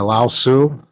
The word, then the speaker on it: Lao Tzu: Yeah, Lao Tzu.